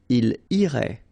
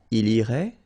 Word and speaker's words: irait: And then, il, masculine form, irait, final T not pronounced.